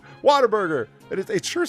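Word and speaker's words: Whataburger: It don't sound like water, but everybody says it, especially Texans say it like pop-tart, right? It's just water burger.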